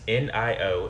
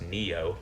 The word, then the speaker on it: NIO: the last year, but I'm going to say it's NIO, and I think it's pronounced NEO.